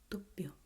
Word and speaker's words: dubbio: It's just you stop the flow of the air coming out of your mouth just here on the lips, and you say dubbio, dubbio. Before pronouncing the B, you make this pause.